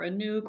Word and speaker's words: Anouk: name is anook um Americans are pronounce it like a Nook or a nuke or whatever it doesn't really matter to me um so people can do whatever they want um I rather choose a nuke like like a nuke because yeah it makes more of an impact don't you think yeah and otherwise it's a Nook that rhymes with book and that's boring but